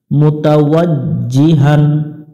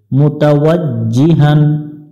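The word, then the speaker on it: مُتَوَجِّهًا: আলিফ টান হবে তাআলা মুতাওয়াজ্জিহান মুতাওয়াজ্জিহান জিহান এখানে জিমটা শক্ত করে পড়তে হবে মুতাওয়াজ্জিহান ইলা লাটাতে টান দিব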